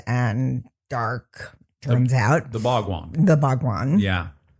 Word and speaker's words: Bhagwan: The Bhagwan. The Bhagwan. Yeah. Oh, I love how you say it. I think she's saying it really correctly.